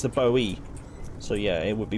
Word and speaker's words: Bowie: first yeah because it's got yeah it's the Bowie so yeah it would be Bowie knife but I seem to call it the Boeing knife for some reason a man out to